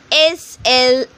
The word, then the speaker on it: slight: S-L-I-G-H-T, slight. T-H-O-G-H-U-G-H, dough. Again, I'm repeating, T-H-O-U-G-H, dough. W-E-I-G-H, way. In these words, the letter G-H are silent.